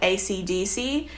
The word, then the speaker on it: AC/DC: too so for example very famous band ac/dc a lot of people would say it like that we pronounce it echo Decca and I guess it's kind of like a like a flourished way of saying the pronounce of saying the acronym like I don't know